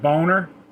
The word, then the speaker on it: Boehner: with former house speaker john boehner actually pronounced boner and he did suck